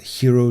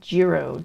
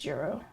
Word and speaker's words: Jiro: What was the name of that documentary, Hero Dreams of Sushi? I believe you pronounce it Jiro Dreams of Sushi. Isn't it spelled Jiro and you pronounce it Hero? No, I believe it's pronounced Jiro.